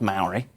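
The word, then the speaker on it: mauri: the idea of um it's again pronounced Maori with a shorter vowel sounds it's spelled m-a-u-r-i it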